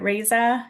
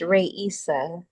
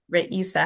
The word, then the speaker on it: Raisa: Is it Raza? Is that how you say your name? Hi, it's pronounced Ray Issa. Raisa.